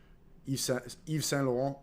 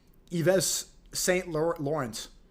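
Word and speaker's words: Yves Saint Laurent: Eve San Lauron. They say uh St. Laurens.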